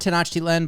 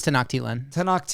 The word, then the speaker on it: Tenochtitlan: Upon reaching Tenochtitlan, Tenochtitlan is how we're going to pronounce it. I was going to say, I've heard Tenochtitlan, but I think it's Tenochtitlan. Tenochtitlan. We'll go actually. Lon at the end.